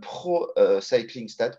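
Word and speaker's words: ProCyclingStats: bacs que j'utilise aussi pro cycling stade comme ça se prononce tout attaché et voilà et vous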